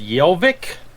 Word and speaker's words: Hjelvik: he's obviously foreign erland jelvik i'm assuming the h is silent let's see okay it's actually pronounced yelvic metal composer lyricist and